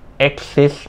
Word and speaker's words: AXXIS: ค รั บ อ่ า น ว่ า Axis น ะ ค รั บ อ่ า น